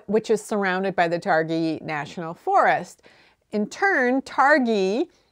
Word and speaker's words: Targhee: confusing to me, because I would look at it and I would think it's a two-syllable word. In English, you tend to put the emphasis on the first syllable for a noun. So Targhee is what I would just say automatically.